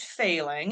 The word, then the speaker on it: Fehling: my name is failing and it is failing pronounced like failing a test I always like to